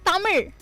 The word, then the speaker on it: Tamil: It's Tamil. R. Tamil. Yeah, R. You have to fold your tongue.